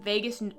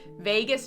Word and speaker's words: vagus: is the nervous system healing so somatic exercises Vegas wow I can never say it right Vegas nerve vagus nerve exercises um I don't know why I